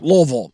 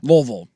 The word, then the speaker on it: Louisville: If you get Louis on them, is it one syllable or two or one and a half? It's not two syllables. No, I think it's one and a half. Louisville. Yeah, Louisville.